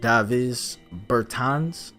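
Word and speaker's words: Dāvis Bertāns: we have Davis Burton's I believe that could be pronounced dive is Burton's he's a guy that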